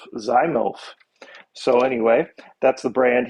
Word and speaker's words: ZYMYLF: of those names that i don't even know how you say it it's z at y m y y l f so z milf zymof so anyway that's the